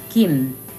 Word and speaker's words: Kim: as a nine and the third letter is mm-hmm just like an M so altogether it's Kim Kim Kim Kim Kim